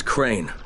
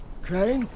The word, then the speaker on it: Crane: no my name is crane crane crane rhymes with train and brain and same and great and rain and plane and the other kind